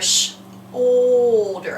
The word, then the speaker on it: shoulder: OU is in shoulder too. And it's making a different sound there, shoulder. Almost like a little bit of a long O with that L sound.